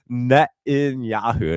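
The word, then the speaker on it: Netanyahu: Uh Net in Yahoo, that's how you say his name.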